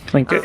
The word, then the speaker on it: Tlingit: So the guy who owns the shop is Native Alaskan, and the tribe from this area is called Tlingit. I think I'm saying it correctly. Tlingit, yep.